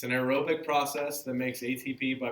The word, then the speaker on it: aerobic: be cellular respiration now aerobic if you just look at that first part of that it says air and it's pronounced like air but it's not air really it's the stuff in